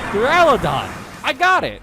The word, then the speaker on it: Duraludon: Duraludon.